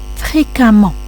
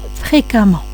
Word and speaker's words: fréquemment: Fréquemment. Même si vous avez la lettre E, ça se prononce comme la lettre A. Ça se lit fréquemment.